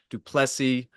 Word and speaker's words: du Plessis: Sean Strickland versus Dricus du Plessis. The S is silent.